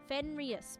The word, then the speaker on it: Fenrys: Yes, Fenris, but it's spelled Fenrys.